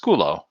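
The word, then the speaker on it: σκύλλω: the Greek word is pronounced skulo.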